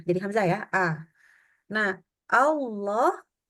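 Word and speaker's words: الله: Hamzah ya A nah Allah itu kita membacanya dia bunyinya seperti langsung kayak a nah gitu ya itu bukan karena mengukan bukan tetapi karena menipisnya atau menyempitnya area belakang ini Allah jadi misalkan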